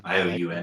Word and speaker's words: Ioun: Yeah, Ioun. It's a weird pronunciation, but yeah, Ioun.